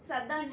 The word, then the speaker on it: southern: Don't pronounce it नॉर्दर्न एंड साउदर्न, इट्स नॉर्दर्न एंड सदर्न hemisphere.